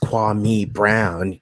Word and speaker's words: Kwame Brown: and all that stuff it's pronounced kwame brown get it right you dumb anywhere you